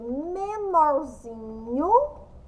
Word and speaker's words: menorzinho: Porque a penúltima sílaba é a mais forte. É menorzinho. Nós descobrimos que o zin tem o som mais forte.